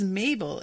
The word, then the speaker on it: Mabel: My name is Mabel. It rhymes with table. It also rhymes with label. It also rhymes with schmabel.